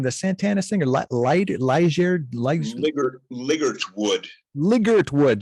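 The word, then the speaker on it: Ligertwood: The Santana singer, Liggert Wood, just like it's spelled.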